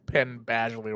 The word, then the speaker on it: Penn Badgley: it always comes back to Penn Badgley wherever the his name is